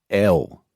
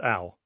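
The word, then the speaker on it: Elle: And how do you say L? The magazine is called Al. What about the person? Al. Al. Like call me Al.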